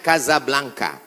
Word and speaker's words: Casablanca: kuliah nama negaranya Maroko ibukotanya tulisannya Casablanca cara bacanya Kasablanka Kaza artinya rumah Blanca